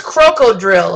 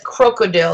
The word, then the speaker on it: krokodil: so it's pretty horrible it's technically called coke Road ill or Cochran Isle crocodile oh it's croco drill okay I always get the name wrong so it might be so someone out there is saying that it's krokodil I think that's better it's like a tongue